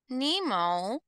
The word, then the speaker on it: pneumo: as this example here for pneumonia Nemo the p is silent means lung or air